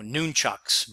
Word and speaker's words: nunchaku: brass knuckles or wooden, I call them nunchakus. You might pronounce it differently. So nunchucks might be another way.